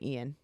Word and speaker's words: Ian: Beverly Hills on 210 he spells his name Ian but it's pronounced Ian just so you know Ian Eagle